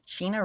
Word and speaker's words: Sheena: Sheena rhymes with Medina.